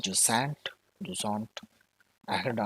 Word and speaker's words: Jusant: Yes, it's Jusant.